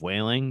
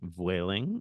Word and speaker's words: Vueling: ever done it with wailing by the way which I'm going to be the first to correct your pronunciation I think you saiding veiling uh because it's like Voos Voos or flights in Spanish so uh I haven't